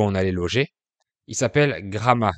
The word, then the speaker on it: Gramat: Il s'appelle Gramat, ça s'écrit G-R-A-M-A-T, mais cette fois le T final est muet.